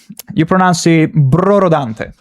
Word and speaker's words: Brorodante: You mean, oh, you pronounce it Brorodante. Brorodante. Dante is pretty easy because it's like Dante Alighieri, and then Broro, like easy, Brorodante.